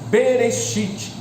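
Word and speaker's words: בראשית: hebraico do idioma hebraico aqui em hebraico se pronuncia beretite traduzido para o português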